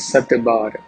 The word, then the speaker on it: सत: Shat is pronounced here in Avadi as Satbar.